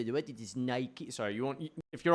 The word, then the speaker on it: Nike: It is Nike.